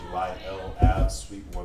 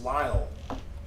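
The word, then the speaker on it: Lyell: and school the address out there is 1600 july rochester new york did i say it right what lyle it's lyle lyle lyle yeah i'm glad they spoke like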